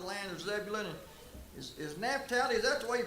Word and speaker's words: Naphtali: Is Naphtali, is that the way you pronounce that, Leland?